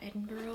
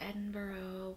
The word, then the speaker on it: Edinburgh: Oxford York and uh Edinburgh I think is how you pronounce it not Edinburg um oh there's something